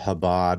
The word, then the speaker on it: Chabad: One faction is called Habad, but it's spelled with a ch like chabad. Yeah, but it sounds like a H. They don't have a H. They have like a KH.